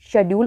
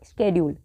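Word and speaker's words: schedule: डे ऑफ my busy शेड्यूल और स्केड्यूल, okay. आपकी मर्जी, आप इसको कुछ भी प्रोनाउंस करें।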